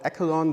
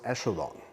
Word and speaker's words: echelon: this up on the break it's not called echelon this word is pronounced echelon so it's a row echelon form not the